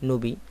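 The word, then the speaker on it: نبي: আল্লাহর নবীদেরকে নাবী মানে নবী বার্তাবাহক এই নাবি আসলে আমরা বাংলাতে নবী বলে থাকি কিন্তু সঠিক উচ্চারণ নাবী এই নাবি শব্দটি একবচন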